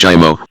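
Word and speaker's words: Giaimo: Gi, pronounced Jimo, rode down from Waterberry in the limousine with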